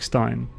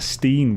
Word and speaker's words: Stein: I can tell you Germans pronounce their IE as, and EI sounds basically the opposite of English. You can see in words like Stein. I think Americans would pronounce that Steen, wouldn't they?